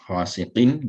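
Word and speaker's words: غاسقٍ: Khasiqin, there's a tanween at the end. So I have a pronunciation of a nun sakina followed by hamza.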